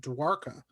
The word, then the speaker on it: Dwarka: fascinating this city called forgive me if i'm pronouncing it wrong but it's called dwarka and this city is huge it's found in